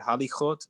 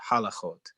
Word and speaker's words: halachot: Do not pronounce the word halichot, but halachot.